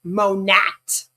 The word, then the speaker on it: Monat: And then they came out and they were like, "Actually, it stands for modern nature and it's supposed to be pronounced monat."